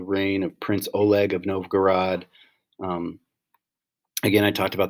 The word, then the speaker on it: Novgorod: and establish a capital in a place called novogard excuse me novgorod and really start to solidify who the roofs